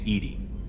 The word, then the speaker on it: EDI: airl is a jar why are you named Edie Ed is the phonetic pronunciation of e di that is an acronym